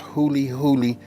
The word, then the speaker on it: Huli Huli: say it like this this right here is pronounced hully hully you know chicken right you got to go